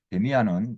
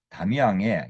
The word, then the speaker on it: Damien: 이 영화에서는 마지막에 잠깐 등장하지만 데미안은 DAMIEN으로 쓰는데 길들이다, 제압하다, 정복하다라는 뜻의 프랑스어권 이름인 다미앙의 영어식 발음이죠.